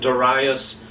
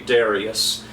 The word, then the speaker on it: Darius: Duras by the way I pronounce it Duras some people say no no it has to be Darius and you know I